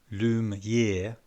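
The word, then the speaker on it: Lumière: earlier the Polish character Lumiere pronounced loom year as Claude Alex Presley tells us that name must be pronounced he is prepared to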